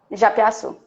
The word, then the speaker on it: Japiassu: É Japiaçu que pronuncia? Japiaçu.